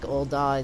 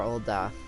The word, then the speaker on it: Ul'dah: Alright, so it looks like Ul'dah is next. Or Ul'dah, whatever. I always call it Ul'dah, like I put a big emphasis on the da, but apparently the English pronunciation just says like Ul'dah.